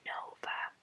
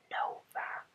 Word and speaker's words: Nova: on the second word the latter is one word with the accent on the first syllable assuming that Spanish speakers